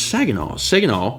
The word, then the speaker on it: Saginaw: It's Saginaw. Saginaw is pronounced sag, as in your pants are sagging.